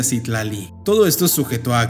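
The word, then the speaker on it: Citlali: viene del wat es un nombre muy común en México aunque se pronuncia sitlali todo esto es sujeto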